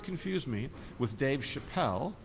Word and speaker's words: Chappelle: confuse me with Dave Chappelle his name has an e on the end hence the French pronunciation of Chappelle my name has no